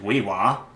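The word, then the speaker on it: We'wha: Native American fiber artist, weaver, and potter, the late Wee-Wah, as it's pronounced right here, as a Thamana.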